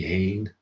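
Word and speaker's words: fhèin: So FH is almost always silent, with the exceptions being hast, hwyr, and hein. So mi hein, FH is an H.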